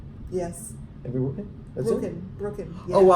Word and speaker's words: Brooken: Brooken. Yeah. Oh wow! I always throw like 10 other syllables in there, even though there's no more letters. No, it's only Said it right. 2 syllables.